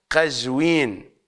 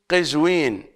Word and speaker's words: قزوين: اليها مدينه مدينه مدينه قزوين بفتح القاف الا ان الشائعه بيننا نقول قزوين بكسر القاف والبعض قد يجعل ضمه قزوين فيقولون مرتضى القزويني بكسر القاف بحسب القراءه الصحيحه هي قزوين وليست قزوين على اي حال بحسب